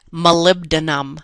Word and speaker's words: molybdenum: By the way, M-O, you pronounce that molybdenum. That's a tough one to sound out, molybdenum.